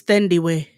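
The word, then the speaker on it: Thandiwe: an african actress and it's not dandy newton it's some other it's an african actress that literally came out and said y'all been saying my name wrong since i came out in this uh sandy newton yeah her that's not her name is thindy way then the way cindy way i was like first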